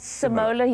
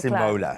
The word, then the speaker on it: Simola: Simola Hill Crime. Is it simola? Simola.